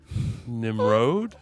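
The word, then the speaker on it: Nimród: foreign it's spelled Nimrod but I feel like I'm making fun of him I think it's pronounced differently nimrode yeah it's got like a thing over it it's like Nimrod or a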